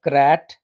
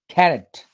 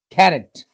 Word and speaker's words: carrot: dishes it is c-a-r-o-t it's not carrot or crat it's carrot carrot carrot stress is on the first syllable it can be eaten